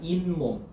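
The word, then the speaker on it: 잇몸: 앞말이 모음으로 끝나고 자, 뒷말이 미음 니은으로 시작되면 니은 소리가 첨가된대요. 이 플러스 몸이지. 이가 모음으로 끝났잖아. 맞아? 그래서 니은이 첨가되죠? 인몸이잖아. 인몸.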